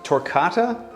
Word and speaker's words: Torquata: that they exist and by the way it's pronounced torcata and uh it's a tree it's a gum